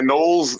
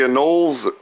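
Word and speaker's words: anole: You know how to, you know how to pronounce the name of the lizards? Before I go, try to the anol. the anol. There you go. There you go. They know that's how you pronounce or whatever they're called.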